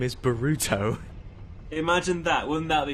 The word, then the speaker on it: Boruto: Stardust Idiots just said Naruto's son is called Boruto because in Japanese you can kind of pronounce it like Bolt or Bort.